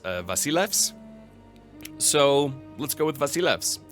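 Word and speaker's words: Basileus: The other thing is the title of the king of Sparta, Basileos, actually in Greek, I was told would be pronounced Vasilevs.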